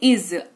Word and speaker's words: is: तो सबसे पहला शब्द हमारे पास आपकी स्क्रीन पे आपको दिख रहा है इज, IS लिखा हुआ है, लेकिन उच्चारण इसका इज होता है।